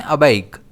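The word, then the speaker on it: aback: इस वर्ड को हम प्रोनाउंस करते हैं अबक। इस वर्ड में स्ट्रेस बी पर रहता है।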